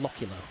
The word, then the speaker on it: Lokilo: We call him Lokilo. Oh, Lokilo. Jason Lokilo. That's how everybody pronounces it, like that.